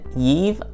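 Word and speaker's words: Yve: We have Pete on the left and Yive, I believe is how it's pronounced, on the right. It's spelled Y-V-E.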